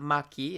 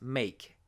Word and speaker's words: make: So it's not maki, it's make.